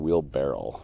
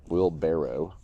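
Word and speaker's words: wheelbarrow: that Amon am yes I said Wheel bar Barrel again I keep saying wheel barrel we nail it wheel barrow follow us for more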